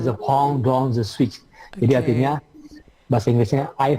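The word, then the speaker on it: je pense donc je suis: Tulisannya J pense doce J sweet. Bacanya the pong dong the sweet.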